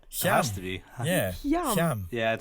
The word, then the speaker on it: Hyam: Hyam. Yeah, I'd say Hyam. As in ham. Yeah, like West Hyam.